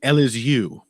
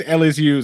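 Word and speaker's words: Elizeu: nicolau I think it's L is you I think that's how you pronounce that little phoneme in in Brazilian Portuguese yeah that could be I'm never gonna try I think it's LSU Zaleski dos Santos I love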